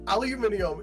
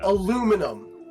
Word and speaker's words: aluminium: I would say aluminium is the only English pronunciation of an element I will ever accept because of how cool it sounds. Oh yeah. Aluminum. It just sounds dull and boring.